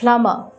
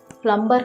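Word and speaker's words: plumber: Next ప్లమర్, ప్లంబర్ కాదండి, ప్లమర్.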